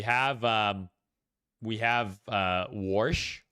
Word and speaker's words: Warsh: So, we have um we have uh Warsh. Warsh, Kevin Warsh, I believe is how you pronounce his name.